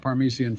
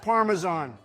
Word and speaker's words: Parmesan: But yeah, up first we got the garlic parmesian flavor. Wait, hold on. The hell did you say it like that? It's pronounced Parmesan.